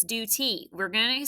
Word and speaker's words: duty: to put a macron it's not due tai it's duty we're we're gonna say